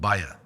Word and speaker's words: Baja: we went to is called baa B Aja a like e like that baja like in California but it's spelled the same and and the literally